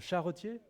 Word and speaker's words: charretier: des bêtises le alors je sais pas comment il faut le prononcer le charretier ou le Chartier le charretier ouais ok mais c'est pas comme ça c'est écrit peut-être que vieux français Chartier Chartier mais si on